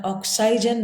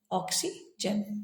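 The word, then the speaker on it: oxygen: सुनाई देगी हमें ई, तो हम इसका उच्चारण ऑक्साइजन नहीं करते हुए हम कहते हैं ऑक्सीजन।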